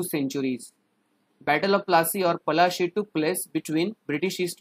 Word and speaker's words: Palashi: Actually, in our Indian words, we called it Palashi. But as you know, Britishers can't pronounce it properly. That's why it became Plassey.